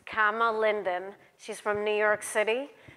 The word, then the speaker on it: Kama Linden: Amazon so welcome comma sorry I mispronounced your name it's comma Linden she's from New York